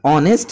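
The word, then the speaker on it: honest: को साइलेंट कर दिया ऑनेस्ट है तो इसमें इन्होंने एच को साइलेंट कर दिया अगर हम कहते नेस्ट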